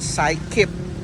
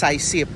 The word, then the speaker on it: Sycip: saan nabubulol ako so ang pronunciation pala non is Washington Cy kip Park hindi sip Pasensya na sama lahat